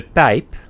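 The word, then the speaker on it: De Pijp: JP AKA pipe neighborhood in Dutch we pronounce it at as the pipe the pipe the pipe it means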